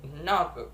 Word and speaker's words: notebook: The first that is notebook. The stress in the first, notebook.